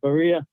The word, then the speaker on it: Barreira: Big Brian Barreira up there, not Barreira Tacos, but Barreira, how I'm pronouncing it.